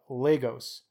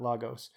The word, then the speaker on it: Lagos: history has been anglicized surest way to annoy Lagos Ian is to call it by its Portuguese pronunciation so we don't want to annoy any Legos Ian's so we will do our best to enunciate properly the city of Lagos not Lagos he sorta gives us